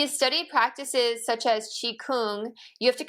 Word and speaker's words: Qigong: But it is Qigong. Qi, like Tai Chi, it's the other side of Tai Chi.